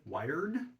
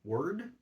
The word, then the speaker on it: Wyrd: are the W gnome that's spelled w y r d wired word anyway the uh this race